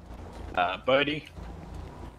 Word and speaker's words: Bodhi: Bodie. Last name. B O D H I.